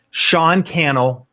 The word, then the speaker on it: Sean Cannell: Sean Cannell, rhymes with YouTube channel.